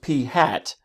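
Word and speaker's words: p̂: symbol read is pronounced P hat because the caret symbol over the P looks like a little hat so therefore we call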